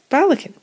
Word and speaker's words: Ballechin: you getting any results so balikan that's how we say it the whole time shut